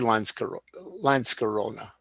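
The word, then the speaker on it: Lanckorona: wouldn't the C be pronounced like Landskrona? Yeah, it would be Lanskarona.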